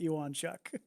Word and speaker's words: Ewonchuk: was going with that there is a there's an mma fighter with a very similar spelling to your name that the pronunciation works more like that so i get where